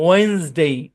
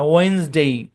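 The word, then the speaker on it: Wednesday: এখানে ডিটা তো সাইলেন্ট, হ্যাঁ, এবং সেই সাথে ইও সাইলেন্ট, এবং এসটা যেটার মধ্যে সাউন্ড দেয়, ওয়েন্সডে। আমরা 7 দিনের নাম পড়ছি না, ওই ক্লাসে এটা ব্যাখ্যা করছি আমরা, ওয়েন্সডে।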